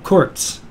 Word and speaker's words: Kurz: A Z sound is pronounced with a TS sound. So if you see the Z, that's always, oh, tss. So Kurz.